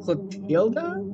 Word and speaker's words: Clotilde: Okay, Google Translate is telling me it's pronounced Clotilda? The E is pronounced like an A, which is kind of odd.